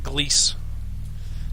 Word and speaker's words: Gleese: Let's go talk to Gleese. That rhymes with grease.